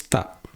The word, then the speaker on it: tak: How to pronounce it is like tak without the sound of the K. It just stops there, right? Okay, tak, right? The K is not sounded, right?